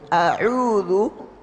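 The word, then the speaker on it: أَعُوذُ: Ain yang benar tanpa kena hidung. A'udzu kita pencet hidung, saya pencet a'udzu tanpa kena hidung. Jadi dia murni di tenggorokan. Ya, dia murni di tenggorokan. A'udzu. Jadi bukan kena hidung, ini salah.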